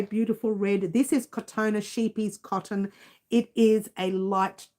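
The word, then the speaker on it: Scheepjes: It's called sheep G's, but it's called it's actually pronounced sheepies.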